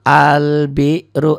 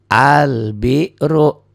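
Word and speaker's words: البر: beda ini tadi ya ini juga sama albiru lamnya dibaca Kenapa Karena setelah alif lam bertemu huruf qomari itu Ba karena ketemu ubah maka di atas lamnya ada sukunnya karena ada sukunnya maka lamnya dibaca albiru begitupun yang ini tuh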